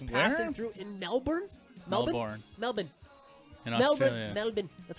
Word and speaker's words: Melbourne: something I was passing through in Melbourne Melbourne Melbourne that's how they say it in Australia different